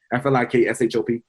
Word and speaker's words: Flikshop: No C. Most people put the C in there phonetically. I get it. You're supposed to put the C, but no, it's no C. FLIKSHOP.